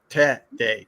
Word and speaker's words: Tere: T for us Gringo it's like te te and then d a y day with the accent on the first syllable T day t t okay I